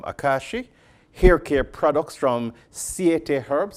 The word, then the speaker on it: Siete: Hair care products from Siete Herbs. I think that's what we pronounce, S-I-E-T-E. Look like Siete as in 7.